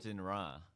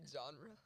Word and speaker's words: genre: first person shooter so genra genra so do you what what do you me genre okay you're pronouncing it wrong it's is it like